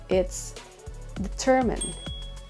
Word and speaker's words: determine: way to pronounce it it's determine determine so the stress is on the second syllable determine second word would